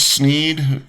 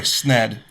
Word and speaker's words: Sneed: Um and then there was uh Cherokee Charles Sneed. No, sorry. SNED. Sned. It's pronounced SNED like dead.